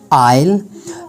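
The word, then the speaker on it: isle: Letter S इज़ not pronounced before L in some words, जैसे कि आई light, यानी एल से पहले जब ये यूज़ होता है तो प्रोनाउंस नहीं होता। Sometime I light, आइल। Some Other random words having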